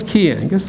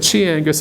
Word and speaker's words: Chi Angus: What's a Chi Angus? Well, a Key Angus, but Chi Angus if you don't know how to pronounce it.